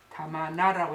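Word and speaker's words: 玉名: 이 지명이 대만도 없지만 일본식으로는 옥명이를 해놓고 이걸 타마나라고 읽습니다.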